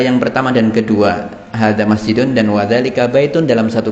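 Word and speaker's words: مَسْجِدٌ: Naam, masjidun. Tidak masjidun ya. Apalagi masjidun itu tidak ada. Di sini pendek semua.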